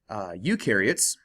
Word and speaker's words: eukaryotes: take a look at eukaryotes you rhymes with do so eukaryotes do have